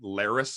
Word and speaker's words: Larys: We got Larys Strong, which I don't know how it just dawned on me, but that Larys is literally rhymes with Varys.